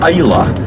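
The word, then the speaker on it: Islay: whiskey themed Islands this one is produc is pronounced Isa it's quite an exciting Island it has eight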